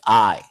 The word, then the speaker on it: Ei: The way you you say egg and pronounce egg in German is I ei.